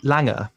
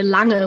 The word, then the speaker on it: Lange: Oh, please don't say Lange when you speak English. It's Lang when you speak English, and yeah, it's indeed Lange when you speak German. But I don't like these, German pronunciation in English. This is very ambitious. So it's perfect if you say Lang.